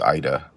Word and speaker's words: Eide: And normally, I would correct them and say, no, it's Eide. But in Norway, it is actually pronounced Ida. I don't know why we pronounce it Eide in my family, rhymes with Heidi.